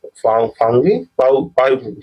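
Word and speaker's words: Phawngpui: Mizo hills में भी कौन से यहाँ पे ब्लू माउंटेन जो कि आपका फाउनी फाउंगी सॉरी इस रॉन्ग प्रोनाउंसिएशन के लिए थोड़ा ये मिस्टेक हो जाता है।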